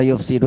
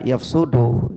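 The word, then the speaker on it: يُفْسِدُ: Ya, di sini, di sini kata yufsidu ini sebenarnya juga bisa dibaca yafsudu ya. Tapi kalau saya lebih cenderung membacanya dengan yufsidu yaitu wazannya itu wazan fi'il muta'addi.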